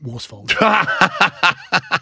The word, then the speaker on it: Worsfold: Worsfold.